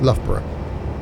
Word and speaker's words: Loughborough: No, it's Loughborough.